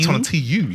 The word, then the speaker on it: Tonatiuh: Tonatu.